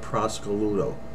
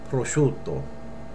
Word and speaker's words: prosciutto: market, and she said, give me a half a pound of prosciutto. You will never say that. You'll say prosciutto, okay? You'll say it correctly, and you won't look like a strunz.